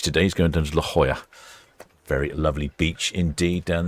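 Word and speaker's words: La Jolla: He's going down to La Hoya. Very lovely beach indeed down there in San Diego. Very popular. Been to La Hoya a few times myself. Although initially I did call it Laola Lajolia.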